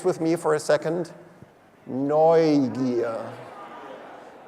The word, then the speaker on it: Neugier: It's pronounced Neugier. Could you say this with me for a second? Neugier. Neugier.